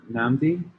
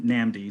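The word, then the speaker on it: Nnamdi: um for that uh namdi yeah thanks um also just wanted to correct my name i pronounced my name namdi so it's just slight difference in the a now it's okay it's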